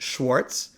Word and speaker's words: Schwarz: The word Schwarz, in English we would pronounce it Schwartz, is the Yiddish word black.